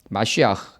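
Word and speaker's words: מָשִׁיחַ: 이제 히브리어로는 마시아 돼가지고 메시아가 되는 것입니다. 마시아흐 이런 발음이 나는데요.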